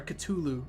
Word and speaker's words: Cthulhu: a thing called the cthulu Mythos or I'm sorry cthulu Mythos that's how it's supposed to be pronounced um that is